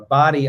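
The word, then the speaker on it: Bodie: one of them a body Island it's spelled like bod um but it sounds like body and that's sort of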